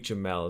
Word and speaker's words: Jamel: jemelle miles I believe Jamel as I pronounced it it looks like Jamal but it's an e-mail Myles that's where I